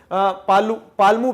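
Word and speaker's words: Palamu: फिर पालमू प्लेटू सॉरी है, ठीक है, इसके प्रोनाउंसिएशन में थोड़ा गड़बड़ हो रहा है, पालमू है।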